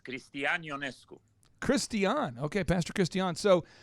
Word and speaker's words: Cristian Ionescu: the kids are going to be saying your name wrong all across the country. I'm fine. It's Cristian Ionescu.